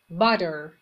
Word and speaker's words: butter: Butter. معمولا وقتی تی وسط کلمات باشه توی تلفظ انگلیسی آمریکایی د تلفظ میشه. باتر رو نمیگن، میگن باتر.